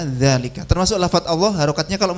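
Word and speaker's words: ذلك: Ya, kayak dzalika itu tulisannya harokatnya cuma seret gini aja, tapi bacanya selalu dibaca dzalika.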